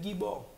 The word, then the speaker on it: gibor: OK, yo prononce le gibor. Là getan yon l'autre bagaille. Là ou getan fait appel à une autre entité. Parce que c'est pas comme ça le prononcer. C'est gibor.